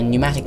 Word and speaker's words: pneumatic: thought that white thing this language has silent letters it makes literally no sense to me like just make the